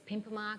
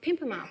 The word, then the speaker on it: Pimpama: all in Yugambeh language, because the A, the AH sound at the end means place of. So Karawa, place of deep blue sea. Karara, place of the long flat. Pimpama, place of the pimpim bird, the soldier bird.